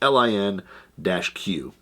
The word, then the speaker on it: LIN-Q: it could be l it's l i n q so it could be lin q uh i've heard some some people pronounce it that way uh and then also i've heard it pronounced link and like i said